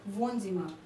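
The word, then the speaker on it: Wohnzimmer: Living room या drawing room जो बोल लो, लिविंग रूम को हम कहते हैं वोनजिमा, वोनजिमा, ठीक है। अच्छे से प्रोनाउंसिएशन देखिएगा तभी आपको आएगा, वरना ऐसे बहुत कन्फ्यूजन क्रिएट होगा।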